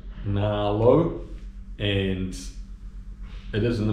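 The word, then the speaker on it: Nghĩa Lộ: Okay, finally made it to the middle of nowhere, which I think it's pronounced Na Lo, and it is in the middle of nowhere.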